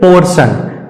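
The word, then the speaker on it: portion: सा प्रमोशन उसी तरह से पोर्शन पीओ आर टी आई ओ एन पी ओ आर टी आई ओ एन टी के तुरंत बाद आई ओ आई तो इसलिए टी का सही उच्चारण हो जाएगा तालव्य क सा अर्थात इस शब्द का सही उच्चारण होगा पोर्शन पोर्शन मैं उम्मीद करता हूं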